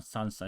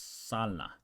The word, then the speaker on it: sala: blusa so soup I it's not salsa it's Salah Salah means living room